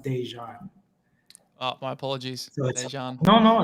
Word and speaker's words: Dejan: pronounce my name so my middle name is pronounced dejan oh my apologies no